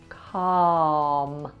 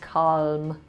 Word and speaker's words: calm: The L in calm. It should be pronounced calm, not calm.